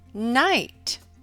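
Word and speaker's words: knight: look at some examples in the K in consonant team the K is silent as in the word knit and night in your phonics and reading workbook turn to page 11.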